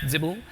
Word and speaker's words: XBL: It's kind of similar to what XBL, or as I've discovered today is pronounced Zibble, can do, but it's